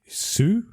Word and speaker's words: Hsu: So Stephanie Su is how you pronounce her name.